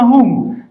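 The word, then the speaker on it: who: الكتب تقرا من من الكلمه هو هنا صار الدبليو لا ينطق والاتش هو الذي ينطق هذه الكلمه الوحيده قاعده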